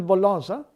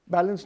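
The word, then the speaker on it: Balance: और इसमें तुम्हारा वर्ड हो गया बॉलॉन्स, दैट इज बॉलॉन्स, जर्मनी में बॉलॉन्स बोलते हैं, बैलेंस नहीं।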